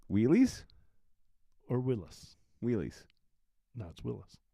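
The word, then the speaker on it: Willys: apostrophe in there it's Willis Overland Willis and it you know it it said Willis um Canada says does Willis like Bruce that is true so it's spelled Willy's but it is Willis I want to try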